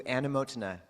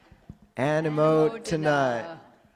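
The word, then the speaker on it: anumodana: We've said sadhu too many times, so we're going to do anumotana. That's our other way of saying way to go. Anumotana.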